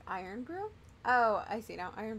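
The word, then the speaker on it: Irn-Bru: Say it like Iron Brew?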